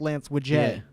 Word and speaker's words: Lance Widget: this guy lance yeah name spelt lance widget pronounced lance wijn yeah yeah another french